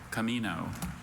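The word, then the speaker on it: comino: Camino. Camino. Are there any alternate pronunciations?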